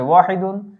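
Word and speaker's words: واحد: যেমন আমরা যদি 1 কে আরবিতে কি বলা হয়, এই যে 1 এর আরবি হচ্ছে ওয়াহিদুন, এটি হচ্ছে আরবি শব্দ। এই ওয়াহিদুনটা আমরা উচ্চারণ হচ্ছে এখানে লিখে দিয়েছি ওয়াহিদ।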